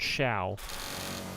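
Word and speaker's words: Xiao: Um, X I AO. It's pronounced Sha.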